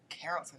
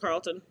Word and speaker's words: Carrollton: Girl, one time they sent me out fucking Carrollton. I was mad as a bitch. I'm a weak. That's how you say it, Carrollton, not Carlton.